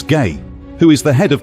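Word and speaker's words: Gey: samples were sent to Dr George gay pronounced as gay who is the head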